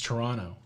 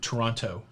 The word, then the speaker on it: Toronto: t i think it's toronto what yeah i don't think you pronounce the t in toronto well i do i